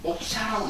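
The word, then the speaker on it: मोक्ष: 이걸 뭐라고 읽느냐? 샤라고 있습니다. 목샤라고 있습니다.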